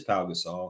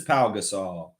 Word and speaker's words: Pau Gasol: It's spelled correct, but it is Pau Gasol. Of course it's Pau Gasol.